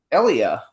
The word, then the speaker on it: Elia: like not Elliot Eli Elia it's Elliott how do you say his name actually you say Elia Elia okay you hit the e and I actually have